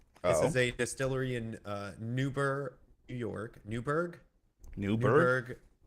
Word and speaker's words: Newburgh: says that it's Newburgh. It could be. And funnily enough, the pronunciation, actually, you're supposed to get rid of the U too. It's Noobrg. So the thing is, it's in New York, right?